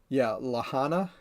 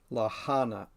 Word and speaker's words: Lahaina: So right now, I'm pretty much focused on Lahana. I think, I don't remember how to pronounce it.